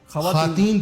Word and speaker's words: خواتین: نہ، خواتین یہ نامناسب ہے، خواتین کہنا چاہیے۔ خواتین واو نہیں پڑھنا، واو نہیں پڑھیں گے، خواتین کا احترام کریں، خواتین کا احترام۔ یہ واو معدولہ نہیں ہے، اس لیے کہ یہ فارسی الاصل لفظ نہیں ہے، یہ ترکی کا لفظ ہے۔ عربی قاعدے کے مطابق